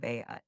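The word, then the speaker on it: Août: Of the month of Augustus has been made the month of Aat. Not so long ago, a German prince, thinking that in France one never pronounced the term August otherwise, called King August of Poland King Aat.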